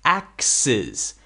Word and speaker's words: axes: But if you have more than one, now it's axes. Axes. Sis. Axes. That's the plural. Okay. Axes. So we have a z sound at the end.